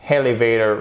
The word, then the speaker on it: elevator: Avec elevator, vous avez votre accent tonique ici, vous accentuez sur cette première syllabe.